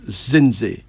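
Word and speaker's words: Zindzi: some female names first our first female name is zen zen z i n d z i again Zen z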